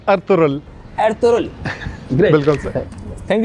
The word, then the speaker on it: Ertuğrul: और सर आपसे एक सवाल है, सर आपने एर्तुगरुल देखा है? अब्दुल्ला माइंड नहीं कीजिएगा, मैं इसका प्रोनाउंसिएशन सही कर दूंगा। इट्स अर्तुगरुल।